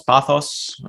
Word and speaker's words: pathos: that the pronunciation pathos pathos um well it depends who you wanna usually you pronounce it a bit like the third in english by hypothesis and actually in greek we're saying pathos which is the suffering